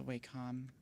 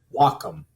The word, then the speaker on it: Wacom: There's the Waycom or W is it Wackom? Waycom. How How do people pronounce this? Wacom. Wacom. Yeah. Like waka but wacom.